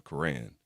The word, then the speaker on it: Quran: U and so the Quran is the Muslim or is the Muslim Bible or also pronounced as the Quran.